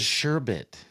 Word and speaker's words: sherbet: It is sherbbit. Wow. Who would have thought mind blown totally no idea when new information for me. And when I was about to spell it, I stopped at S H E R B cuz naturally in my head I see E R T.